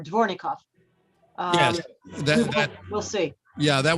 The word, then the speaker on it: Dvornikov: I may have not pronounced his name right before. Dvornikov.